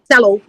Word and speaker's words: cello: Last ওয়ার্ডের উচ্চারণ হচ্ছে চেলো, CELLO, এটার উচ্চারণটা চেলো, এটা মিউজিক্যাল ইনস্ট্রুমেন্ট।